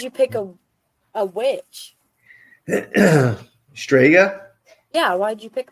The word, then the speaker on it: Strega: what does it mean some people can't even pronounce so I just want to yell for the record say that stga is Italian for witch and that's why it's stga Moon Productions obviously we're ital so then why